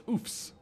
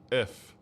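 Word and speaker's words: œufs: It's oofs.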